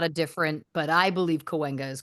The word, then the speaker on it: Cahuenga: Well done on your pronunciation of Cahuenga. Because I live in Los Angeles, Of and course. there's different interpretations. My belief is that Cahuenga is correct. Sure. Some people call it Cahuenga.